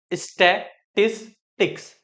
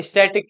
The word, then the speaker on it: statistics: अगर हम बात करें चैप्टर स्टैटिस्टिक्स की, ठीक है, तो पहले तो प्रोनाउंसिएशन सही रखना। स्टैटिस्टिक्स। ये स्टैटिक स्टैटिक नहीं है।